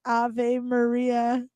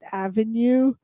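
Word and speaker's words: Ave Maria: the way and uh I love how voice over pronounces a Maria don't you Alex it's a Maria but I guess I can understand why it's it pronounces it Avenue because um a is the abbreviation for avenue two three blue Christmas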